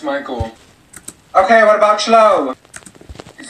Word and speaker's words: Michael: Thank you, Mikael. Ma'am, it's Michael.